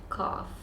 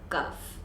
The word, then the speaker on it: cough: that we were sick is cough not cuff it's cough so I had cough not I had cuff now most of the